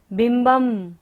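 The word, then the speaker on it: बिम्बम्: विभ्राजते तव वपुः कनकावदातम् बिंबम। ब के ऊपर बिंदी और बाद में क्या रहे? व। य र ल व होता है तो बिंदी का उच्चारण क्या होगा? म।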